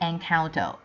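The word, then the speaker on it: Encanto: again top two enconto I realized that I pronounced it wrongly last week sorry about that it should be encount top one eternals and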